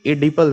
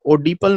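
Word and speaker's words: Oedipal: पढ़ेंगे एडिपल stage, ध्यान रखना, ओ साइलेंट रहेगा, ओडिपल मत पढ़ना।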